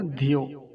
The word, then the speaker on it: धियो: हैं इस मात्रा को, लंबा नहीं खींचेंगे, छोटी ई की मात्रा है तो इसको शीघ्रता से बोला जाएगा, धियो।